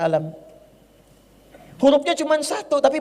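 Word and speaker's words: ألم: Lam Mim yang ini alam taro alam nasyrah bacanya alam hurufnya cuman satu Tapi bacanya Kok bisa panjang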